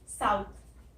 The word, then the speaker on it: south: Pronunciation क्या होती है, साउथ की साइड प्रोनाउंसिएशन में सा आता है पहले तो, सा, और फिर छोटी ऊ की साउंड, छोटा छोटा ऊ होता है ना हिंदी में, साउथ, और फिर थ, थ, तो इसको ऐसे प्रोनाउंस करना है, साउथ।